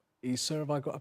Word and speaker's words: Isa: I know that he's known to Muslims by the Arabic name Isa. Have I got to pronounce that right?